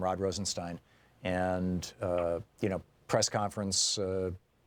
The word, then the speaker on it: Rosenstein: Yeah, Rod Rosenstein held or Stein, excuse me. They pronounce it Steen over at Fox News to try to, you know, emphasize his being Jewish.